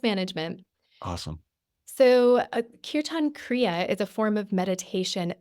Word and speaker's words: Kirtan Kriya: Kirtan Kriya. Okay. And I'll spell it for you because I want people to